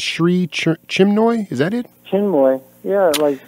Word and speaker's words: Chinmoy: Chinmoy, yeah, like Chin with a moy at the end, yeah.